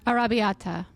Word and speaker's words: arrabbiata: Arrabbiata. Arrabbiata with hot Italian sausage.